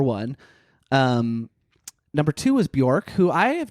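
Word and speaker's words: Björk: Um, number two was Buork, who I have not done a big uh I'm saying it right, Bork, right? Yep.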